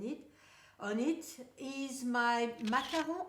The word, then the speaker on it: Macaron: on it, is my Macaron. I would guess it's Macaron because it's spelled with the French spelling and not the English Macaron spelling.